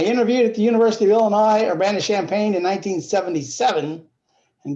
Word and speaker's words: Illinois: have to say that the s in illinois is silent except if you are